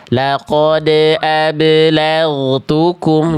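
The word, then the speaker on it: لقد أبلغتكم: Pantulannya itu kayak ada ngerem. Jadi Bunda tuh tadi bacanya gini. Perhatikan. Laqod ablagukum. Harusnya lempar aja Bunda. Laqod ablagukum. Jadi enggak dibaca laqod ablagukum. Enggak. Jadi pantulannya jangan diputus bunyinya dilempar aja.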